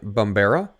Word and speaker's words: Bumbera: Today, joining me is Steven Bumbera. Did I pronounce that right, Steve?